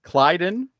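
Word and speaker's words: Klyden: Clyden. Right. I'm gonna have to put like that up in like the office area here and just put like a sheet of how to pronounce people. But anyway, Clyden.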